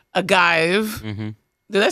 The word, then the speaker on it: Agayev: that up aive a guive mhm did I say right yeah okay okay